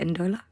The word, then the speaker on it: Ndola: And we're also celebrating Kampire's brand new compilation, A Dancefloor in, is it Ndola? Yes. Yes. It's been really nice to have everyone pronounce it correctly the first time because it's a struggle with my name.